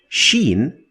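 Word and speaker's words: شين: Sheen is to be compared to the combination of sh in English. sh not ch like the sound at the beginning of the word sharp. Sharp. So sharp sh sound.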